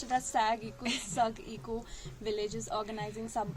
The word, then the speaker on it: Sagg: So my friend here came across this post on Instagram that Sagg, we pronounced it as Sagg Eco Village is organizing some event, and she literally dragged me into this.